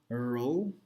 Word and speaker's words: rho: So this is nothing, we call this like rho, so the pronunciation is rho, but this is basically the density and nothing more.